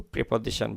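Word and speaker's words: preposition: এই লেসনের পরে লেসনস শব্দের পরে লেসন শব্দের পরে আমরা জেনারি টু প্রেপজিশন ব্যবহার করি। প্রেপজিশন টু ব্যবহার করে থাকি। ইংরেজিতে প্রিপজিশন বা প্রেপজিশন দুটার উচ্চারণটাই আছে।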